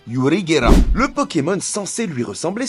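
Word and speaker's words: ユリ・ゲラー: se prononce yungera lui il s'appelle yurigerer et ça sonne quasiment pareil en japonais puisque ça se dit yurigera le Pokémon censé lui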